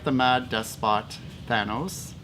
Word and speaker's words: Thanos: like the Mad Despot THANOS, that's how you pronounce it, not Thanos, or an ongoing title that's starting something fresh, like here, Squadron Supreme #13, a clever play on words.